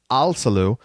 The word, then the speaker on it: Alsalu: And it's Alsalu. Generally remember that the emphasis in, let's say, Baltic last names is going to fall in the first syllable every time.